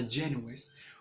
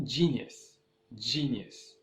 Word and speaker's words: genius: الفيديو الاول ديال beginner level ديال pronunciation genius، نطقتها جانوس ودرت يو هي الاولى عند اي، ولكن هي كتكون في الواقع اي عند يو وكتنطق جينيوس وسمحوا لي بزاف.